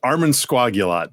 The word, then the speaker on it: Armansquagulat: of today's uh uh Adventure the word is pronounced Arman sagot John nice Arman nail that every single time